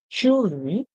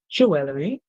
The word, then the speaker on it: jewelry: H Grand much beautifully craft jewelry American pronunciation jewelry British pronunciation qus and other clothing